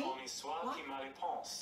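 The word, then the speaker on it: Honi soit qui mal y pense: How would you spell that? Ponce. P-O-N-C-E. All right. Pony. Pony soit qui mal y pense.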